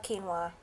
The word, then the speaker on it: quinoa: I love quinoa and that's how you pronounce it in case you've never heard of it before.